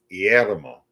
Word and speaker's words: Guillermo: Yeah, you're trying to pronounce the G. I know. It's Guillermo.